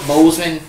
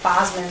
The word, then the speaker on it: Boseman: That's Boseman. how you pronounce it? Okay. I'm weird. I always pronounced it Bosman for some reason.